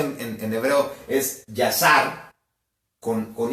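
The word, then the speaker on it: Yashar: libro de que que en hebreo o se pronuncia en en hebreo es yasar con con y a s h a r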